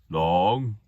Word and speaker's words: 龙: The Chinese translation of dragon is long, just like saying the word long, but you say it like this, long.